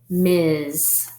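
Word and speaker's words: Ms.: woman that's married okay and this word is ms together ms let's spell it ms period miz and i should point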